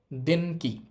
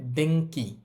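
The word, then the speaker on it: 電気: এরপর লেখা আছে কি দেন কি খেয়াল করেন এখানে ন আছে এরপর কালাইনের বর্ণ আছে যেহেতু ন এর পরে কালাইনের বর্ণ আছে ন এর উচ্চারণটা হবে অং তাহলে এই শব্দটার উচ্চারণ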